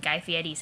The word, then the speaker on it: Guy Fieri: Do you even have any machines that don't inundate you with fucking hamburger helper ads and Guy Fieri's heinous propaganda? And that's apparently how that's pronounced, which I always thought was weird.